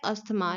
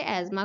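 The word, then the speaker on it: asthma: अब देखिए यहाँ पर जो कॉमनली प्रोनाउंसिएशन होती है वो होती है अस्थमा, लाइक कॉमनली लोग इसे अस्थमा ही बोलते हैं, वैसे इसे एज़मा कहा जाता है। सो कई बार मैं भी इसे अस्थमा ही बोल देती हूँ, बट इसका एक्चुअल प्रोनाउंसिएशन एज़मा है।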